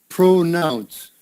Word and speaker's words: pronounce: Long O, pronoun. Yeah, nounce. Yeah, like that. Pronounce. Yeah, that's it. Pronounce. So it's important to get that S on the end. Pronounce. Okay? Maybe that N and S together are a little difficult.